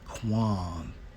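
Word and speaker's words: קוּם: Now, when we focus on I will raise up, and it's Strong's H6965, pronounced as Quam in the Hebrew, right?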